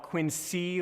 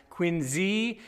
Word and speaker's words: Quincy: high rock church in Quincy please don't call it Quincy like with the sea locals will eat you alive its Quincy and it's Massachusetts why